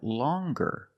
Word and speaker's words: longer: But then you have longer, where we have the hard G sound. Longer. With a nasal sound, plus the hard G.